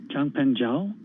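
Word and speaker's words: Changpeng Zhao: cz how do you say his full name jung peng zhao okay um but as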